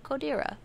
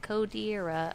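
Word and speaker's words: Kodera: It's probably like Codera. I don't know. It's like K-O-D-E-R-A. But it's like immediate. Cotera. Yeah, I thought Cotera too.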